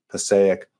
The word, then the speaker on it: Passaic: I hope you're doing well tonight, and I hope you enjoyed the fact that not much rhymes with mosaic other than Passaic.